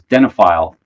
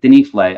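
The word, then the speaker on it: Denifle: all-time H favorites um Hinrich denle that I used to mispronounce as denile for for many years uh Hinrich denle uh he was an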